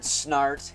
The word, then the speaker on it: Snart: But today I'm going to be taking a look at Leonard Snart. His last name rhymes with fart.